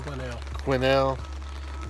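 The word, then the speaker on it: Quesnel: Quinnell, which is not spelled that way. Nothing is spelled like it sounds up here.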